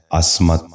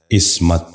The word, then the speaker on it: عصمت: غور سے سنیے، عصر۔ نواں لفظ ہے عصمت۔ یہ غلط تلفظ ہے، درست تلفظ ہے عصمت۔ دوبارہ سنیے، عصمت۔ بچوں